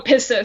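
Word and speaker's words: πίστις: And then he has, it looks like in Greek, and I don't know how to pronounce that. Oh, pistis.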